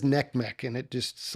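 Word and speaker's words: NCMEC: how do you say I say Nick Mech but that's how the rest of the country we say neck the country says neck Mech and it just like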